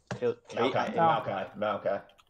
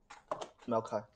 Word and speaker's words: Maokai: Maokai.